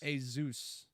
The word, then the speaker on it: Asus: It's a Zeus. But it not has an Asus. S. It's a Right. Zeus. A Zeus.